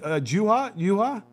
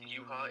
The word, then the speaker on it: Juha: It is pronounced Yuha. It's a silent J, but I do appreciate you going out of your way just to check in on me.